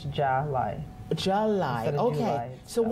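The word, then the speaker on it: Jahli: Yes, so on paper it looks like Jolly. Okay. But it's Jolly.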